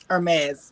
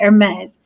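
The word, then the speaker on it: Hermès: I know it's not Hermes like herpes so what is it Hermes like the H is silent okay Hermes so this billionaire who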